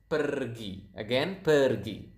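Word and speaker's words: pergi: So, as you can see here, we pronounce the R quite clearly. So, it is kind of like Spanish. If you if you guys speak Spanish out there, I think you will notice that Indonesian pronounce the R quite similar to to the to to the Spanish language.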